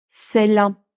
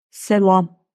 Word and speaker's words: selam: Selam. A şapka kullanmadığı halde ince. Selam. Eğer ince okunmasaydı bakın şöyle olurdu. Selam. Ama hayır. İnce okunuyor. Selam.